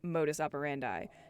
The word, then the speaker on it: modus operandi: what mo means and how to say it properly which is modus operandi not operandi if you think about